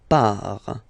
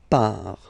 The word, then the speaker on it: pars: So the first form is je pars. So final S not pronounced. Je pars. Tu pars. Same form. You can see here and here. So final S not pronounced. Tu pars.